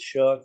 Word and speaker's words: Shough: Just want to make sure I pronounce that right. And Tyler, say his name. Shough.